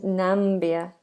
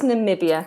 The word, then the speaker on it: Namibia: no no interesting no and nambia is it nambia N I wouldn't have put that eye in there no I'm absolutely wrong I'm absolutely wrong it's Namibia I was going to